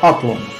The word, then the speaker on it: Атлон: Ну и отправляемся забирать баронство Атлон. Да, не забываю, да, на первый слог. Тут-то точно на первый слог ударение нужно ставить. Должно ставить.